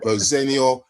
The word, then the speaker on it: Rosenior: So the correct pronunciation is Rosenior, but we're quite happy because it's been going on for 40 years, and whatever, we'll go with it.